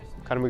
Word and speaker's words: Conor: It's Conor McGregor and then me. That's actually something that helps me a lot here, because now people actually can pronounce my name thanks to Conor McGregor.